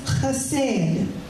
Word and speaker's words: chesed: Mercy, the Hebrew word for mercy, is chesed. Chesed. It's not spelled with a K, C-H-E-S-E-D, but that C-H is a K.